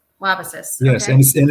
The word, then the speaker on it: Wabasis: Yeah, I'm going to pronounce it wrong. Wasabisis Lake? Wabasis. Wabasis.